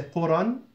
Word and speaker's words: قرى: تنطق بفتحتين. تنطق, it's been pronounced بالفتحتين with the two فتحة. حالة الوصل. In a situation of continuing. okay. وبالألف. So قرى. You say قرى if it's in the middle of the sentence, because you're continuing, there's a word coming after it, you say Quran, okay? وَبِالْأَلِفِ, it's pronounced with the alif, حَالَةَ الْوَقْفِ, in a situation of stopping, meaning if it's in